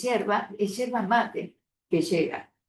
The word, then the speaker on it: hierba: llegan y azúcar, coca, hierba está mal escrito, es cherva. mate. Lo que pasa que les cuesta pronunciar la griega, es hierba.